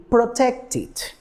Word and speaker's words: protected: When turning it into the simple past, we can see the pronunciation ith. So the word, it will be protected.